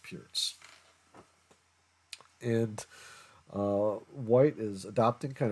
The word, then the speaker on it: Pirc: pronounce it as a perk defense as well. I've seen it both ways, but I think the actual player that it's named after, his name is pronounced Pierce.